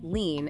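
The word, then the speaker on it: lien: dealing with another complex aspect of workers comp leans can you demystify this concept for us what exactly is a lean and why do providers need to understand them a lean pronounced lean is essentially a legal claim that a medical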